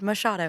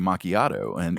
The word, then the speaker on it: Machado: You did, Machado. That's what I thought, yeah. For a long time, I said, I think I called you Macchiato, and you were so,